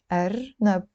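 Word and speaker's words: أرنب: Arnab.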